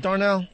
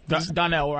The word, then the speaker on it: Donnell: Is it Darnell? Donnell.